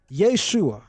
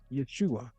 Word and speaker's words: Yeshua: But I would call him what his mama called him, Yeshua. That's what she called him. Yeshua. She didn't utter Yahooa. With all due respect, she definitely didn't fix her face to say Yahawashi.